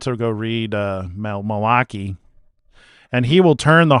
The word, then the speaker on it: Malachi: Yeah, Jews don't pronounce it Malachi. They pronounce it Malaki.